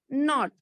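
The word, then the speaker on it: knot: K-N-O-T, not. मैंने आपको last class में बताया था, when K and N both are together, then sound of K is silent.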